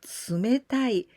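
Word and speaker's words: 冷たい: The same kanji we can also read like tsumetai.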